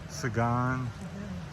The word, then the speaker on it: Sabang: Sabang.